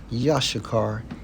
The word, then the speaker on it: Issachar: And she called his name Issachar, pronounced as Yashakar in the Hebrew.